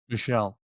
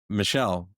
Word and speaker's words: Michel: Is it pronounced Michael or Michelle? Michelle. All right, let's try this again. See, this is exactly what I talked about because we're old friends now. Michelle.